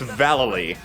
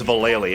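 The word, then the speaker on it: Vallely: It's Valily. Everyone says Valali, including us, but we're wrong.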